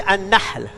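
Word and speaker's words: النحل: Les abeilles, on dit an-nahl. Et si on dit an-nahl, c'est le palmier. Le ha, en ha, ça change tout.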